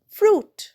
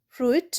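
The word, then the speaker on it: fruit: ফ্রুট। ফ্রুটেও দেখ আইটা কিন্তু উচ্চারণ হচ্ছে না। ফ্রুট। ফ্রুইট নয়।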